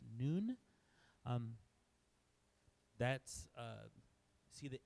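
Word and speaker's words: נ: Then our N sound is nun. It's not none. It's pronounced noon.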